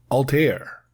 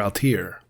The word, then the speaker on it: Altair: Up next, we have the USS Altair, or Altair, depending on how you pronounce it.